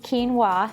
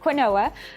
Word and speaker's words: quinoa: Now, if quinoa is new to you, and yes, it's pronounced quinoa, not quinoa, I hear that quite often.